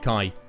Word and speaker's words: Kai: Ross just said, how is Kai pronounced? That's how we're pronouncing it, Kai.